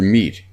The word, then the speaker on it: meat: don't call it deed watch out for meat and great and threat they rhyme with sweet and straight and dead a month is not